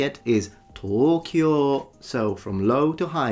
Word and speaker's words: Tokyo: Now, if you want to hear how it is said in Japanese, it is normally pronounced there in Japan as Tokyo, Tokyo, two rather long O's.